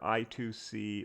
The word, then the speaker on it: I2C: for inter-integrated circuit and is pronounced either i2c or i squared c it's one of several